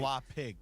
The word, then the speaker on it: Schlappig: The double P for the pig. Schlappig.